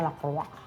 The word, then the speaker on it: Lacroix: Lacroix, bacanya Lacroix.